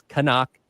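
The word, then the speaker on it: Knaak: It is Canuck, and it is Aiden saying that himself in the little recordings they have there for the phonetics of his last name. So Aiden Canuck, the proper pronunciation, as he gets set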